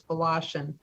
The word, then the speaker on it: Volashin: It does look like it starts with a W, but it's pronounced with a V, so it's Volashin.